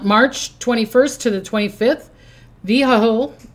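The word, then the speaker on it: Vehuiah: Vho V E H U I A L. So it sounds kind of like vehicle.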